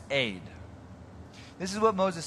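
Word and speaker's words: אֵד: ground this word mist it's a hebrew word it's spelled e d okay it's pronounced aid this is what moses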